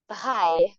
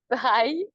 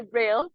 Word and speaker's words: Braille: everybody knows as Louie by although when we say this in French most people don't know how to pronounce his name actually by you guys would say Braille probably but hi you know